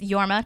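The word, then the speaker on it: Jorma: um but this has the director producers yes yorma tone is his pronunciation it's okay and then um yeah portolo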